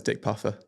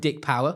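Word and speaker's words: Pougher: going to I'm going to say it's Dick Puffer. P O U G H E R. He's the last player for Leicester to to take 13 wickets a game and score 170. Spell it again. P O U G H E R. I went Dick Power.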